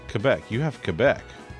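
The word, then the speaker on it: Québec: apartment that is Canada, typically we've pronounced it Quebec. That's how people say it. But that's, I learned that that's not how it's pronounced. It's pronounced Quebec. See?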